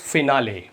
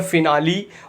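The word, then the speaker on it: finale: Next word है friends फिनाले। इसके देखिए दो प्रोनाउंसिएशन है, एक तो है फिनाली और दूसरा है फिनाले।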